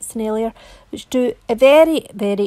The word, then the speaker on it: Sennelier: paint that i'm applying it's actually sennelier i think that's how you pronounce it scenario which do a very